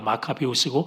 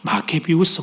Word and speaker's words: 마카비우스: 지도자 마카비우스, 그때 지도자가 마카비우스고 마케비우스 이렇게 발음도 됩니다만 중심으로 총걸기를 합니다.